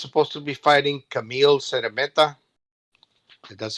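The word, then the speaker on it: Szeremeta: Yeah, I think Golovkin's supposed to be fighting Camille Seremeta. That's how you pronounce his name.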